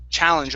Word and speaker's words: challenge: one other one here so here instead of challenge che it's cha challenge open your mouth up a little wide on that sound cha challenge challenge good good all right